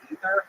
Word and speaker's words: Aether: because I thought that I read god of upper air is actually pronounced ether and I was like I just call it ether instead.